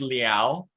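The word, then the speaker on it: Liow: It's pronounced Liao. Rhymes with meow.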